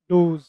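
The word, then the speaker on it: does: The dash, डज, डोज, डोज। दोस्तों dough, D ओ ई, dough का मतलब होता है मादा हिरन, और इसका प्लूरल फॉर्म है डज, और इसका जो उच्चारण है वैसे वो है डोज।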